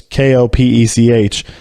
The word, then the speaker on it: Kopech: Michael Kopech or Kopech. I don't want to mispronounce that, but it's Kopech.